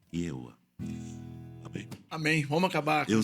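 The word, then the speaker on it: Jehovah: então i é isso Jeová escreve assim i e h o v a h e tipo yova mas pronuncia-se yoa amém amém Vamos acabar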